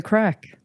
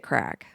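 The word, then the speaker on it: craic: So maybe that's why they named it crack. Yeah, and it's not spelled cocaine. C-R-A-C-K. It's spelled C-R-A-I-C.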